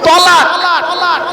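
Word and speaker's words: تلاق: আর তেল আমালিফ কফ, তয়াকার লয়াকার ক। তালাক মানে জুড়ে যাওয়া, মিলিত হওয়া, একত্রিত হওয়া, জমা হওয়া। আমরা তলাক না বলে সব তালাক বলি।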